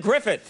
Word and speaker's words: Gruffudd: The name is Ioan, is I-O-A-N. Yes. And then Gruffudd is G-R-U-F-F-U-D-D, Gruffudd. Yes, that's how you would pronounce it, yes, phonetically, looking yes, at it.